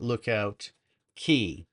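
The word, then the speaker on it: Lookout Cay: make a stop at Lookout Key. Even though it's spelled CAY, it's Key.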